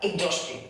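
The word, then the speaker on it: exhaustive: इसका सही जो प्रोनाउंसिएशन है वो क्या है, एग्जॉस्टिव। इसको देखो मैं लिखा भी है IGZOSTIV, इसका साउंड लिखा है मैंने, एग्जॉस्टिव मतलब थका देने वाला।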